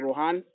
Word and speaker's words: Ruhaan: And right now, I have a filmmaker who go by the name Ruhaan.